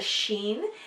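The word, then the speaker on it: ש: dot over the top that's a sheen and it makes the Shh so we got yes and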